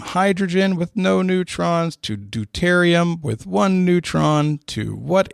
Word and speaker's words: deuterium: one the one that says the d sure d e u t e r i u m and if there is a better pronunciation for it i apologize that's just me